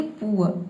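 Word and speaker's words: poor: हो जाएगा ऊ, और इसके बाद जो आर आ रहा है यहाँ पे हम आधा रा पढ़ेंगे, या फिर आप चाहे तो साइलेंट रख सकते हैं। क्यों, क्योंकि आर से पहले देखिए यहाँ पे ओ वावल आया है, ठीक है। तो इसे हम बोलेंगे पुअर।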